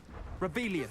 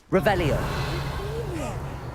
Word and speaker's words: Revelio: Rebellious. Saying it wrong. Revelio. Much better.